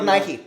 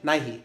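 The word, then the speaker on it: Nighy: what's the actor who plays the it's Bill Nike Nike that's how you pronounce it yes okay and I was reading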